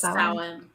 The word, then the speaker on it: Samhain: It's like Sowen is what or Samhain. Samhain, that's it. I think it's Samhain. It is. I thought it was. I always butcher it. That's like, but it's spelled like Samhain.